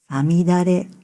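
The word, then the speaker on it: 五月雨: 漢字で 5 月の雨と書いて、さみだれと読みます。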